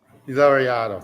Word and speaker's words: Laureato: Laureato. Thank you for the pronunciation.